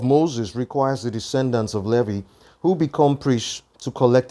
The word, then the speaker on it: Levi: law requires the descendants of Levy which I like to pronounce as Levi okay it says now